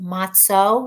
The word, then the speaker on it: matzo: a little bit about matzah. Actually pronounced matzo, right, Dave? Nobody pronounces it matzo, but it's spelled matzo, and you're supposed to say matzo, but everybody says matzah.